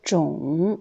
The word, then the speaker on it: 种: Ensuite, le mot 种 ou 种, donc c'est deux prononciations. Quand c'est 3e ton, 种, c'est un nom qui veut dire espèce ou variété ou race.